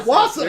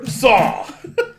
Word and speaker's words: Warsaw: He's like, yeah, Wassa. And we're like, There's an R in there. there's a very important R in that word. Warsaw.